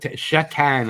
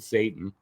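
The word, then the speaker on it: Šatan: Mirroslav Sat Shatan. I think that's how it's pronounced, but we always just said Satan.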